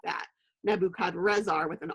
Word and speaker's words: Nebuchadrezzar: But the name of this king in the original Akkadian language, which is one of the languages of the Babylonians, his name would actually have been pronounced Nebuchadrezzar, and I didn't write